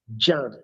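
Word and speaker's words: Djan: Jan.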